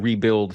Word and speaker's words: RBLD: So tell me about this, the rebuild fitness philosophy. Yeah. Rebuild is the way to pronounce it, but it's kind of a double entendre.